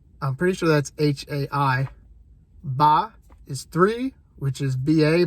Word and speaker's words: ba: little dots under them, but M-O-T is how that's spelled. Mo, that's one. Hai is two. I'm pretty sure that's H-A-I. Ba is three, which is B-A, but there's a